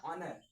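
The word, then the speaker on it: honour: तो जैसे आपको दिखाई दे रहा होगा यहां पर हॉनर और इसे हॉनर नहीं कहते। इसे कहते हैं ऑनर।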